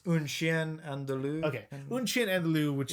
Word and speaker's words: Un Chien Andalou: The pronunciation? Un Chien. You're asking the wrong person. Okay, well that. it's Un Chien Andalou.